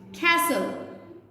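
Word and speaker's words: castle: इसी तरह एल से पहले टी, किसी भी वर्ड में एल से पहले टी आएगा तो टी साइलेंट हो जाएगा। विसल, कैसल, नेस्ले।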